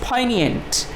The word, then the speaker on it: poignant: Odds हैं, द पोइनिएंट, इसका the pronunciation is पोइनिएंट. इसको आप याद रख लीजिएगा, जी इज़ साइलेंट.